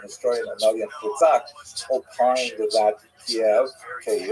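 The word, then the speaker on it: Kyiv: In fact, the great uh Ukrainian historian Kak opined that Kiev cave as it's pronounced today in the Ukrainian pronunciation cave was actually founded by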